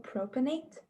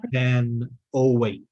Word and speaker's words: propanoate: maybe you're just mispronouncing it. Yeah. Propanoate. Right? Yeah, that's what I meant. Make sure there's an O there, right?